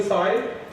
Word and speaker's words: psi: This is capital psi, p is silent.